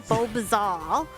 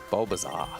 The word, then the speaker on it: Bulbizarre: is" I don't know if I'm going to pronounce this correct, "Bulbizarre." Bulbizarre. Bulbizarre.